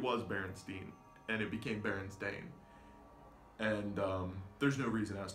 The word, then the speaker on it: Berenstain: names to Americanize them Bernstein is commonly believed or anything ending in steen is commonly believed to be of Jewish descent and it's easier to pronounce as Stein as we know like Frankenstein Einstein gold styling things like that but it's believe this Ellis Island officer changed their name to stain and it has always